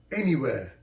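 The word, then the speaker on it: Anywear: tracksuit the logo's name is n e where pronounced anywhere anywhere a and y w e a r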